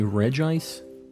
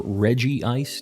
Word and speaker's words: Regice: to get the shiny Regice or Reggie ice depending on how you are as a person I've always said Regice it doesn't have like Reggie it'd be Reggie's anyways on on that's the